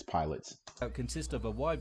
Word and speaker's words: Pilates: It's called pilots. It's not called Pilates. It's called pilots. Pilots, not Pilates. I'm not sure that's just a foreign thing. That's just how it's pronounced over there.